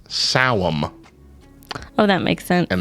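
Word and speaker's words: Samhain: llamas belain belon Bel Sam ha I don't know any of them so that last one is actually pronounced despite how it's spelled it's pronounced saam oh that makes sense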